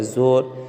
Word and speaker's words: زور: زور۔ دیکھیے واو مجہول سے پہلے کیا ہے؟ پیش تو ہے، لیکن یہاں پر کھینچ کر نہیں پڑھا، جیسے زا واپس زو،